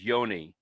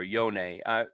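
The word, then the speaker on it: Johne: academic journals and so being german we we pronounce his name the way we think it should be which is yoni or yonei it's probably said differently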